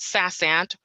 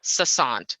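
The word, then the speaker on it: SaaSant: how to pronounce it it's called sas ant or sassant it's spelled s-a-a-s-a-n-t this is a lifesaver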